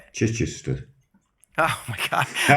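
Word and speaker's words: Chichester: He's from somewhere called I'm going to probably mispronounce this, but Chai Chester, UK. Did is that Did I butcher that? Yes. How do you say it? Chichister.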